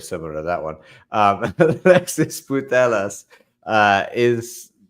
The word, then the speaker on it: Putellas: Alexis Putellas. See, I didn't want to say the other word in Spanish. I know that sounds very similar to that one. Alexis Putellas is not being renewed, or just not renewed yet with Barcelona.